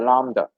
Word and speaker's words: lambda: So, in summary, how to measure the lambda?